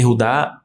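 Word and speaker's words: יהודה: que legal tribo de Judá e rudá eud e rudá é a pronúncia Hebraica E por que que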